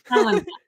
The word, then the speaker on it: Ilani: Just think Elena and I. Ilani.